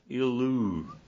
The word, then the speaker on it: Illyricum: and round about until Illyricum, the pronunciation is awful in the Greek. It's I-L and then L-O-O, Illu.